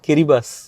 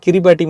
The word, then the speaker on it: Kiribati: உலகத்திலே first new year கொண்டாட போற நாடு கிரிபாஸ். ஸ்பெல்லிங் பார்த்தா கிரிபாட்டி மாதிரி தான் இருக்கும், ஆனா அவங்க ஊர் கில்பர்டீஸ் லாங்குவேஜ்ல TI இருந்தா எஸ்ஸா ப்ரொனவுன்ஸ் பண்ணுவாங்க.